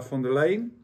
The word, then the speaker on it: von der Leyen: And also, what did Europe, Ursula von der Leyen, she said, do I pronounce it?